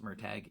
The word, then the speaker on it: Murtagh: And also, I called him Murtaugh for years until I found out that Paolini said it's pronounced Murtagh, and no matter how many times I hear it, it still sounds weird to me.